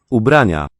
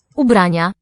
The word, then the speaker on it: Ubrania: I think just 3 syllables, not nia, but nia. Each of these is hat. Ubrania. Okay, he's accenting the second syllable. Ubrania, stressing it even.